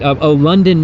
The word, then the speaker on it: London: London, not Landon.